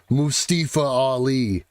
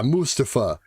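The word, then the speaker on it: Mustafa Ali: know what i mean it's the same thing with mustifa ali mustafa or yeah mustafa you gotta say it fast now we get fenix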